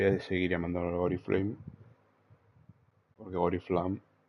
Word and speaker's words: Oriflamme: Tendré que pasar a pronunciarlo Oriflamme. Es que suena raro. A mí me suena mejor Oriflame, pero es que, a ver, digo Oriflame porque pensaba que así lo decían en inglés.